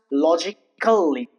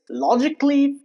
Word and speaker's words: logically: Here the letter A is silent and as you can